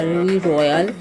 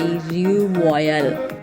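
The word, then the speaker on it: Rue Royale: और जनाब इस स्ट्रीट का नाम है, अगर मैं इसको इंग्लिश में प्रोनाउंस करूँगी तो ये होगा री रॉयल में, और अगर मैं इसमें थोड़ी सी अपनी फ्रेंच ऐड करना चाहूँ तो इसको हम प्रोनाउंस करेंगे री रॉयल।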